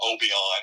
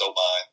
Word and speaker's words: Obion: A lot of people pronounce it Obion, which is incorrect. It's we know you're not from Northwest Tennessee. If you say Obion, Tennessee, it's Obion. And they live kind of